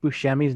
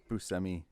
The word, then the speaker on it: Buscemi: just found out yesterday we've been saying Steve Buscemi's name wrong it's a don't tell me it's a boo scare me he says it's a buscemi Buscemi but the the proper way to say as a Buscemi jeez but not even